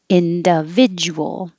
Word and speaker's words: individual: have a nib worm individual the du together makes a ja individual coral it could